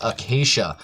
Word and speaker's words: acacia: some questions regarding the correct pronunciation of acacia wood I ended up looking it up because I hate mispronouncing words so I figured I would uh give it a look at do a little bit of research and I now know that it is occas so if you have